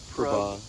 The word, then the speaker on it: Prabhav: Prabhav. Prabhav. Prabhav. Yeah. So it's spelled Prab as in boy, HAV.